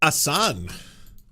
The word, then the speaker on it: Hasan: Assan. H is silent now.